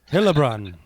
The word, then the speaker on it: Heilbrunn: let's see how you say it all right helbron is that more like halun ha hun Haun